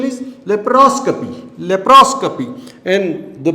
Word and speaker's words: laparoscopy: नाउ इट्स pronunciation is laparoscopy.